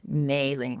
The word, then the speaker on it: Mailine: it's spelled Ming but it's maing because I pronounce it the French way yeah I never correct